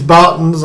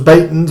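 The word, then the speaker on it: Baetens: We have Scotty Too Hotty's Scott Waits against Andy Bartons, and that is the right way to pronounce it according to the Belgians. It is Bartons. I thought it was Batons, but it's Bartons. And Andy has been playing some solid darts, some real strong darts.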